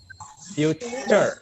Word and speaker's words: future: Simple future Simple tense. future tense. Bukan futur ya, bukan futur, tapi future.